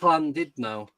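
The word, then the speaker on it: Llandudno: Yeah, but it's pronounced Landidnau.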